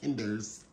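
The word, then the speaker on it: Kinder's: this is a company in California it's actually pronounced Kinders so it's kers y'all just just anyway um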